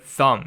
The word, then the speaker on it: thumb: like the English word thumb you don't know not thumb well actually yeah thumb too if you look at the word thumb then you don't pronounce the B part right so I like